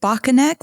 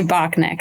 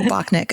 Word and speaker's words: Bockenek: you pronounce is it bakan neck or is it just neck if people say it both ways so I I usually say Bach neck like I don't overly pronounce okay en neck that's